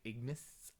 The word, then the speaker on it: Ignis: today agnes has dropped i'm calling this lady agnes because it sounds like agnes i know it's spelt with eye you probably say ignis but i knew a